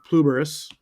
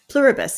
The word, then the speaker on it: Pluribus: the lead female on Pluberus. Say it right or I say run again. No, that's okay. It's Pluribus. It means Okay. Yeah. Just remember buses at the end.